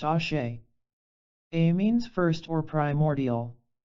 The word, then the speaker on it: Ashe: This principle is known in Tibetan as Ash, pronounced Ashe.